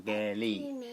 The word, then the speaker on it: Geri: Even though it has an R, the R is pronounced as an L in Japanese. It's not Geri or Geri, it's Ge, because you do the E as an A and the R as an L, Geri, and the I as an E.